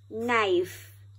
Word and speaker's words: knife: Knife. Very good. Let's do it again, and this time we will spell it out.